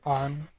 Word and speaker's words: Anne: Did I pronounce this Sakamoto? No, I'm she- wondering if Anne did or On.